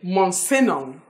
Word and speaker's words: Monsignor: And G is silent in Monsignor. Monsignor is not Monsigno or Monsigno.